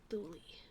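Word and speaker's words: Thule: a shm let's see I wonder how what is it yeah it is pronounce thuli thuli was the northernmost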